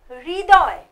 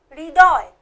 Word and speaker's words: হৃদয়: এরপরে আছে হৃদয়। হয় রি, আমরা কিন্তু হৃ উচ্চারণ করব না, আমরা হব উচ্চারণ করব রি। হয় রি রি দ অন্ত্যেষ্টিয় হৃদয়।